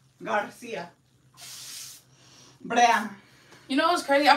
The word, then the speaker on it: Garcia: are pissing me off no it's G Garcia you know what's crazy